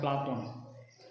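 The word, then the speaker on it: Πλάτων: और प्लेटो का जो शुद्ध यूनानी उच्चारण है वो है प्लाटोन, और अरबी भाषा में इसे क्या कहते हैं, अफलातून।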